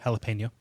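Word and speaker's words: jalapeño: no it's it is it is a a short e jalapeno I can say that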